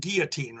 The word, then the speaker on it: Guillotine: Gordon they called him you pronounce it GE Guillotine right Guillotine right yes yeah Guillotine Gordon and